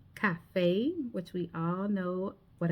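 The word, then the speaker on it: café: The letter E as in cafe sounds like a hard a cafe which we all know what a cafe is.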